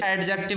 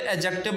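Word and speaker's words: adjective: है ये ठीक है एडजेक्टिव एडजेक्टिव नहीं बोलते एडजेक्टिव बोलते हैं डी साइलेंट रहता है प्रोनंसिएशन में तो यहां पर दिस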